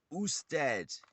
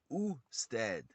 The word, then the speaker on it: usted: one the other type of view which is usted is spelled u s t e d and it's pronounced uh stead and that is the plight or the formal